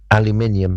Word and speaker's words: aluminium: We aluminium, but that's because we spell it differently.